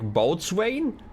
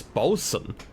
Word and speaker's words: boatswain: You remember the word that I pronounced as like boatswain? Who in their right mind thought that this should be pronounced as bosun?